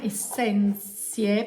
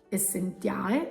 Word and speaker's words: Essentiae: Penso si pronunci la linea Essenzie, penso sia in latino, quindi la T si dovrebbe pronunciare Z, Essenzie, con la E, Essentiale, Essenzie secondo me.